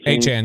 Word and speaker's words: Achane: Achane, yep.